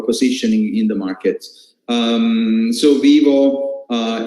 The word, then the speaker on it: Vyvo: this is the brain the brain is it's pronounced vivo vivo it's a lot e word that is safe